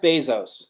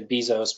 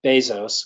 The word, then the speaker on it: Bezos: some of the famous ones are Jeff Jeff Bezos is how he pronounces his name some people say Bezos but it's Bezos according to him and it's Steve Jobs and